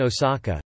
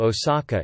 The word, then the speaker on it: 大阪: However, the majority of Japanese place names are read with kunyomi: Daban Osaka, Chingsen Aomori, Shangzhen Hakone.